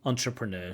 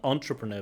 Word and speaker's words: entrepreneur: Entrepreneur. So just a wrong word stress there. Not entrepreneur, but entrepreneur. Stress on the last syllable.